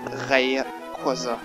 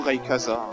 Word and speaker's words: Rayquaza: et ce Pokémon légendaire est Ray Quaza ou Ray casaza ça dépend de la façon de vous le prononcez et bien je dois